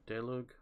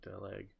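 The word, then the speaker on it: Daluege: That's, I believe, Walter Delug. I believe that's how you pronounce his name, Delug.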